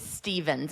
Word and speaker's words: Stephens: And I want to just clarify, my last name is Stevens. It's one of those weird ones that is like, it's got the PH in there, but it's pronounced like a V.